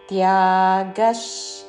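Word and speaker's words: త్యాగః: అహింసా సత్యమక్రోధస్ త్యాగः శాంతిరపైశునం త్యాగశ్ విసర్గ తర్వాత తాళవ్య షాతో పదము మొదలవుతున్నది కాబట్టి తాళవ్య ష ఉచ్చారణ త్యాగశ్ శాంతి రపైశునం శాంతి రపై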